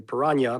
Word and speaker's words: piranha: I say piranha because that's how you say it in Spanish and in Portuguese.